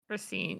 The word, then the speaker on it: Racine: I'm assuming you pronounce it Racine. You can correct me. Racine, yeah.